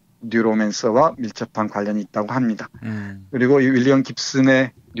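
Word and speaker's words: Neuromancer: 그래서 뉴로맨서 이렇게 읽기도 하고 그러는데 예. 정확히는 뉴로맨서라고 읽어야 됩니다. 그러니까 신경 체계를 조직하는 자 이 정도를 읽을 수 있을 것 같아요. 예. 그러니까 뉴로라는 그 신경을 의미하는 말에다가 맨서라는 뭐 조작하는 자, 조작하다 이런 말의 결합어로 보면 될 것 같습니다.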